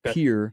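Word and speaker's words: Pierre: Uh said ESPN correctly pronounced his hometown of Pier.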